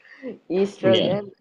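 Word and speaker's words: oestrogen: orron in estr sir it says o no o is silent you know English funny language estrogen in females and testosterone in males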